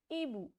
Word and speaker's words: hibou: H is silent, so the pronunciation will be Ebu, means owl.